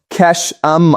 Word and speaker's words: Qeshm: The United States struck Chesam Island, pronounced Keshum Island.